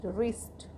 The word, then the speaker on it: wrist: WRIST, रिस्ट, रिस्ट means कलाई।